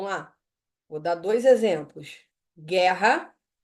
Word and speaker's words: guerra: Então vem aqui ó guerra aguenta guu tá seguido de e nas duas gu gu guerra u é pronunciado sim ou não u é pronunciado galerinha não ó gu gu gu